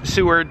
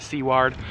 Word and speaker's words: Seward: town of seaward alaska it's seward i just hear people all the time pronounce it seaward um seward is one